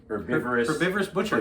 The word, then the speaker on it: Herbivorous Butcher: fake meat from the Herbivorous Butcher in Minneapolis. Dennis pronounced the H as if we were actually in England.